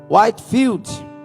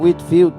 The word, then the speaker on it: Whitefield: Whitefield, ou Whitfield, depende, tem gente falando as duas pronúncias.